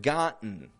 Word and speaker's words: gotten: If I say the word gotten, that T's disappearing altogether, right?